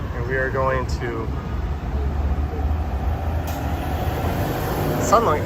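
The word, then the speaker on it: Seolleung: We're here, and we are going to Sunlung. It's interesting, they spell it S-E-O-L-L. That's like sung, but in Korean it's sun. That's like S-U-N, but that is S-E-O-L, Sunlung.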